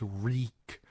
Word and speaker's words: Reek: My name is Reek. It rhymes with weak.